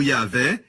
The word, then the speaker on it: Yahweh: Rio de rei rei que deve ser pronunciado yaveh eles dizem Adonai por